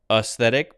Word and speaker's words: aesthetic: an us sound here I usually I maybe I'm used to saying this word as aesthetic instead of aesthetic but they want me to say aesthetic as a schwa sound so all right all